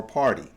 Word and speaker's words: party: Oftentimes the T is silent. Sounds like a D, party, but it's party or party.